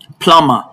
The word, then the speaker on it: plumber: The B in all of these words are not pronounced.